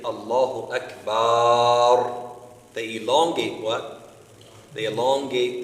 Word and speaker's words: Akbar: difficult for them, is they'll say Allahu Ajbar. Allahu Ajbar. Instead of Akbar, they say Ajbar. They pronounce the kaf like a G, right?